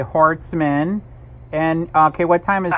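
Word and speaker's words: Horstman: Terry, how do you say last name? It's H-O-R-S-T-M-A-N. Okay, Hortzman.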